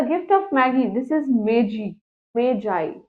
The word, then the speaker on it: Magi: This is Magi, right? It's basically Magi. It's not Maggie.